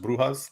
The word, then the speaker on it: Brujas: They're also known as La Brujas because I found out last season in Spanish it's pronounced Brujas, so I thought that was pretty cool.